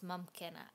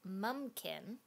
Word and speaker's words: Mumkin: aware of so today we are looking at mumkin you may hear me mispronounce it as mumpkin that's how I said it as a kid so this is mumkin m u m k i n as if